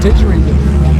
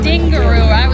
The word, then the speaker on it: didgeridoo: Didgeridoo. Didgeridoo. Yeah, you got it. Didgeridoo. See, I was saying like dingaroo.